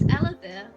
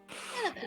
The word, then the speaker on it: Yllavyre: It's Elevir. Could you spell that, please?